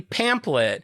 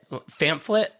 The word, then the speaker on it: pamphlet: It's pamphlet. What's so funny? What is it called? It's not pamplet.